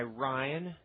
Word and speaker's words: Rhyne: Stacia being held at first by Rhyne Hughes. I have to say his name like the Rhine River in Germany, because it's, there goes Stacia.